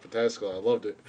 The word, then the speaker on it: Pataskala: It was so fucking cute what she called Pataskala. I loved it. But I said Patalaska because we call Pataskala Patalaska Out of Alaska. because that's how it looks like it's spelled.